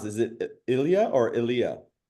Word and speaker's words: Ilia: She is the VP of e-com and digital at, I'm gonna mispronounce. Is it Ilia or Ilia? Ilia.